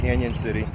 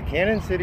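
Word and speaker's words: Cañon City: we've made it to canyon city it's a cannon city or canyon city it's spelled it's spelled cannon city but i've heard a lot of people calling it canyon city we've made it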